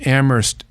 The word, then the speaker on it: Amherst: There's an Ammerst there's a town in New York State called Ammerst uh Silent H by the way.